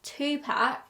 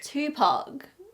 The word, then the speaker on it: Tupac: the Google pronunciation thing if you click on the British pronunciation it is Tupac tup Pac if you go on to the American pronunciation Tupac Tupac so turns out I'm not an idiot I'm just British I'm going to share